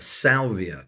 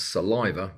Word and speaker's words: Salvia: is a a a Salvia Leaf which I always want to pronounce saliva which is uh which is wrong and uh it's it's